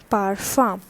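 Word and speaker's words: parfum: next thing is so please focus on the pronunciation this is not perfume this is and this is the perfume in english all right so this is masculine so accordingly i used low and the pronunciation here is par farm all right next is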